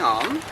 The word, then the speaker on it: Å: Okay, now we're moving on.